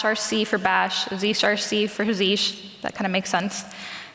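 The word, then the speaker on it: zsh: and SE um and I don't know that it's pronounced z i pronounce it zish uh but I wanted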